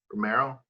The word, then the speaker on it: Romero: is he wouldn't uh did i pronounce his last name correctly romero yes okay um i love how